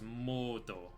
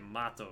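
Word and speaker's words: モト: It is pronounced moat because, you know, I played the game in Japanese and that's what the katakana says. It says moto. If it was the other way, it would say mato, right?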